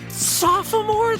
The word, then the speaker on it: sophomore: freshman is sophomore and then Junior and senior sophomore that's how you pronounce it s o sopore oh God God